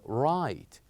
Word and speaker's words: right: is also the word right we only pronounce three letters r i and T right and we kept G and H silent right as when we